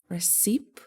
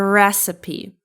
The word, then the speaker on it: recipe: How do you pronounce it? Recip. Recipe. No, it's a recipe.